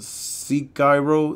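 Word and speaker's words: Sekiro: so this was a seek Cairo is how you pronounce see Cairo see Cairo I don't know KYNA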